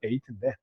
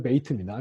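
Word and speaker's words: בית: 이름은 둘 다 베이트인데 점이 있을 때는 B 소리고요. 다음 시간에 이걸 좀 더 자세히 설명할게요. 점이 없을 때는 이게 음역할 때는 라인을 이렇게 그어주시고 발음은 비읍을 부드럽게 한 V 소리가 납니다. V, B, V, V.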